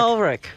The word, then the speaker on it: Ulrich: Ulrich.